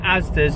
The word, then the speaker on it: Asda: Dad, why are you saying Asda's? Is that what I say? Asda's?